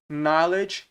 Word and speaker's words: knowledge: Knowledge, conhecimento, aqui também não pronuncia o K, então não é K, knowledge ou knowledge, não é assim, é knowledge.